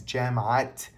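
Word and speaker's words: جماعة: In an idaafa, the ta marbuta must be pronounced as a ta maftuha on all words except the final term of the idaafa.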